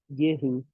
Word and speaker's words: Göring: Göring, eu sempre pronuncio errado o nome dele. Göring.